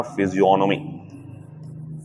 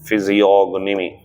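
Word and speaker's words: physiognomy: हमारा, ये होता है फिजियोनॉमी, फिजियोनॉमी, जी साइलेंट होता है, फिजियोनॉमी होता है ये, ठीक है, नोट कर लेना इसे।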